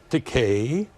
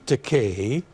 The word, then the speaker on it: Takei: Rhymes with Takei. It's a game, isn't it? Oh, okay, I'll play. Day, Takei, May, Takei, say, Takei, gay, Takei.